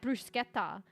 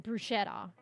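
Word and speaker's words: bruschetta: brusa or something BR probably more like brusketa than brushetta cuz it's spelled with a c h right it's almost like said with a k at least okay this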